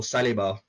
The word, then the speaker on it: Saliba: Best thing for Saliba, or Saliba, as you should pronounce it, is that come January, we loan him out.